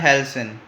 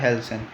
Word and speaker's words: halcyon: Second word हमारा आता है हेल्सन। ठीक है। प्रोनाउंसिएशन हो सकता है डिफरेंट हो, बट मैं इसी नाम से इसको पुकारता हूँ। ठीक है। हेल्सन।